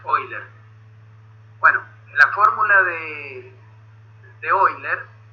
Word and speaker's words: Euler: Euler se pronuncia Euler.